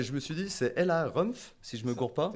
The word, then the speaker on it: Ella Rumpf: c'est Ouais, celui-là donc là, alors, je me suis dit, c'est Ella Rumpf, si je me gourre pas. C'est ça. C'est Ouais, ça. C'est ça, donc je prononce bien.